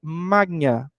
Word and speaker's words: Magna: didática Magna na verdade Magna no latim se pronuncia magnia né é um som fechado diferente e aí o que